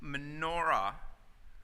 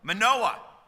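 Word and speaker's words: Manoah: him for his whole whole life how did manora I hope I'm pronouncing that right hear about these initial commands what did you say Jeff yeah Manoa okay he's about as bright as one I'm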